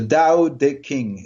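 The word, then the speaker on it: Tao Te Ching: is what the call the DAO day King it's spelled ta o te and CH ing so tau teaching really nice fellows yeah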